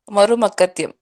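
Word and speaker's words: Marumakkathayam: Am I pronouncing it right? Marumakatyam, yes.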